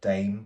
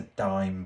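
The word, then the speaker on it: Daim: I refuse to call it a dame bar. It's a dime bar. Even though that's not grammatically grammatically that's not correct.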